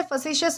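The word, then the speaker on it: facetious: तो दोस्तों, इसके बाद हमारा वर्ड आता है फसीशियस। दोस्तों, इसे फसेस प्रोनाउंस किया जाता है जिसका मतलब होता है मजाकिया या फिर हंसीज़ाक वाला।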